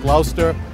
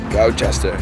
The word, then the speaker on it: Gloucester: It's not Gloucester or Gloucester. Gloucester. So you can't really go by the phonetic spelling.